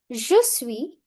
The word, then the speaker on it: je suis: Je suis Je suis. Last s silent.